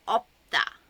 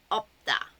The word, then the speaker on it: 없다: So it's used quite often, and it's 비읍, 시옷, so the 비읍 is pronounced. So 없다, 없다. But I don't think you